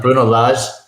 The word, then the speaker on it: Bruno Lage: Now, we mentioned all of these stats, and do we think really Bruno Lage, thanks for the correct pronunciation last week, Mariner, that was well done. Bruno Lage.